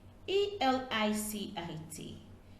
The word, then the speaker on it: elicit: here we have illicit e l i c i t and i l l i c i t though these two words have different spellings they are pronounced the same way hence the confusion sometimes